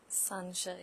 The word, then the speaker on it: Sansha: So, Sansha, did I pronounce it correctly? Sansha, yes.